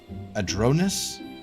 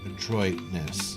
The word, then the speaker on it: adroitness: How do you pronounce adroitness? Adroitness. So it's pronounced adroitness. Say it for me. Do it. Adroitness. Just like that. Let's do it on fast version. Adroitness. I said it right.